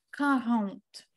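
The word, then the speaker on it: quarante: Тобто 40 це в нас читається як карант.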